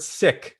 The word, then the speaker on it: Sikh: sikh background ethnic background you can say seek is a faith uh the word sick that's how we traditionally pronounce it is to the meaning